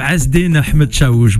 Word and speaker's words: Azzeddine Ahmed-Chaouch: est de retour et ça fait plaisir Monsieur hasd Ahmed chou bonjour bonjour ça va c'est la première fois